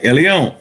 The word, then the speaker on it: Elyon: All right, Elyon.